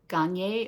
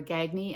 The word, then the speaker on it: Gagne: It's called Sociopath by Patrick Gier or Gagy as she pronounces her name.